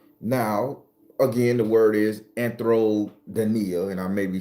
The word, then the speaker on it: Anthrodynia: Anthrodynia.